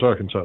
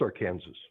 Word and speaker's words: Arkansas: see it that way I've always wondered why we don't pronounce it AR Kansas there is River down there that they make you pronounce our Kanas oh really yes well